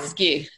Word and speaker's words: Wypijewski: Wypijewski.